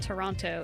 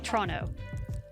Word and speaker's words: Toronto: of town might be asking them to pronounce toronto versus toronto because only the locals would know that it's not toronto it's toronto so it's it's it's